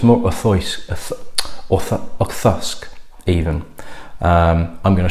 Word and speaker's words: Auchroisk: And it's more Auchroisk than Auchroisk. It's less of the kr and more of a th sound. So it's more Auchroisk, Auchroisk even.